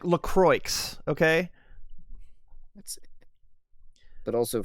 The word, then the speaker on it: LaCroix: bits thank you says it's pronounced lacroix it's it's lacroix it's like lacroix okay let's see but